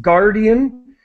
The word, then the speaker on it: guardian: And just the pronunciation of guardian, just think of the U as being completely silent. We don't pronounce it at all.